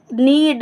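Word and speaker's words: knead: खीरे को काट ले नीड नीड का मतलब होता है गूत या गतना के साइलेंट है इस वर्ड में के साइलेंट है के एन ई ए डी नीड नीड मतलब गूथना सेंटेंस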